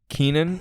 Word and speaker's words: Kenan: a Chinese counterpart should Keenan or Kanan what is it Kennen Kennen the wage Christian described it to me is that it's pronounced like Lenin okay is uh Canon